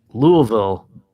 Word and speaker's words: Louisville: all right yep well we got fights in Louisville this weekend which I believe is the correct pronunciation I always say Louisville but Louisville yeah it's Louisville right Louisville yep yeah so the land of